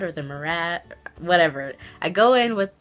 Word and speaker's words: Murad: makeup counter, they told me that this is pronounced Murad, not Murad. So I go in with the Murad or the Murad, whatever.